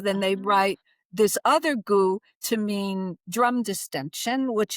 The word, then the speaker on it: Gu: There's a word that's pronounced identically which means drum.